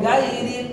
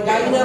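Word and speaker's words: غين: হয় ওই গাইরিন অনেকে আমরা বলি গাইরিন তাহলে গাইনা গই গাইন পারবেন ইনশাআল্লাহ ইনশাআল্লাহ গাইনা গাই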